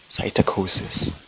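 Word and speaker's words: psittacosis: he caught what's called said taiko try and pronounce this psy cytochosis p-a-s-i-t-a-c-o-s-i-s believes he might have caught that from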